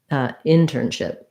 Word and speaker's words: internship: Actually, it's not stressed on ship. Sorry. Internship. Stressed on in.